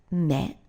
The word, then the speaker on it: 目: fifth so this character for I which is pronounced me added to it dang 1 hour long makes